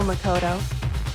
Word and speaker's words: Makoto: rooms for a sing can you not say Makoto with a t can you say it like normal so Makoto did you write this